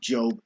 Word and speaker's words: Job: I know it looks like it's pronounced Job, but it's pronounced Job in the Bible, the book of Job.